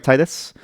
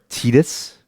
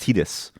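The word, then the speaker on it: Tidus: Right, Titus? Or, sorry, Teetus? That's right, chat. This motherfucker's name is pronounced Teetus. Such a weird pronunciation. Swear to God. The official pronunciation, by the way.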